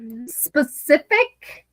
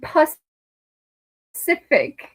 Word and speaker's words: specific: Oh, specific and pus cific. When you are talking about something specific you're not talking about the freaking specific ocean.